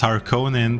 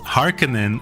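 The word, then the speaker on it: Harkonnen: this last time that we pronounced har Conan the same way they do in this game because of the way they pronounce it in this game and when they pronounced Harkin in the movies it sounded weird because we're used to it's always going to sound weird to me I can never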